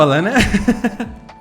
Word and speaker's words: Alanna: Alanna rhymes with banana if you have an American accent. If you don't, it doesn't.